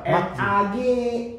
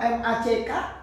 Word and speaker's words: Megji: Kadang bacanya apa? MAG, padahal MACK, G, koma atas G harusnya. Kalau kadang rapper luar kan ada kan?